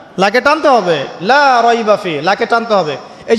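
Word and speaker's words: لا ريب فيه: এখানে লায়ের উপর কি মদ আছে? লায়ের উপরে কি মদ আছে না? লাকে টানতে হবে না? কি বলেন? লাকে টানতে হবে না? লাকে টানতে হবে, লা রাইবা ফি, লাকে টানতে হবে।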